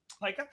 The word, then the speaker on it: Pyka: Pyka. Pyka.